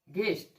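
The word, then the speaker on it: guest: यू का उच्चारण नहीं करेंगे। देखिए आप, जी के बाद यू, जी के बाद यू, जी के बाद यू, तो जी क्या होगा, यू क्या होगा आपका, साइलेंट लेटर होगा। ये यू देख रहे हैं ना, यू साइलेंट लेटर आपका होगा। इसका उच्चारण नहीं करते हैं।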